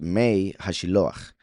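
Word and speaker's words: מי השילוח: the waters of Hashiloach, then the mem is taken out, and then it is pronounced Mei Hashiloach, right?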